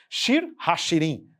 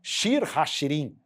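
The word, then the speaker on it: שיר השירים: mais fácil a leitura shir hashirim é assim que se pronuncia shir hashirim Cântico dos Cânticos hashirim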